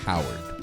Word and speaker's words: Coward: Howard His last name is Coward. Coward. Yeah. Like Colin From Washington Coward? State. No, it's spelled coward. Like you're a fucking coward.